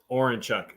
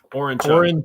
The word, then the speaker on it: Orenchuk: Orenchuk. Sorry, I was on mute. Orenchuk. Orenchuk. Yeah, Orenchuk. So it's pronounced like it's spelled.